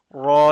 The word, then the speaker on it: ر: Raw you pronounce when you touch the tip of your tongue behind the upfront teeth, behind the upfront gum, upfront palate.